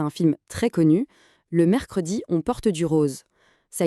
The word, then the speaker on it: mercredi: Pour le prononcer, on dit mercredi. Alors, petite astuce de prononciation. Dans une conversation de tous les jours, un francophone va souvent parler vite et le e du milieu va presque disparaître. Ça donnera quelque chose comme mercredi.